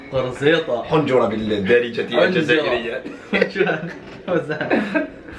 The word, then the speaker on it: قرزيطة: Say قرصيطة. قرصيطة.